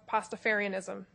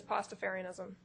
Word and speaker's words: Pastafarianism: you spell that sure it is p a s t a f a r literally like pasta with Fair okay if you if